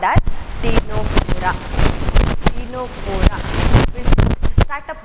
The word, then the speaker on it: Ctenophora: So here T is silent and then it is written as Cteno.